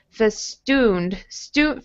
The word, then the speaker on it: festooned: So perfumed, festooned. This ooh sound here does not have any kind of yeah in it, just festooned.